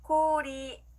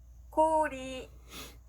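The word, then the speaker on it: こおり: 길게 늘려주시면서 발음 연습해 볼게요. 코리, 코리.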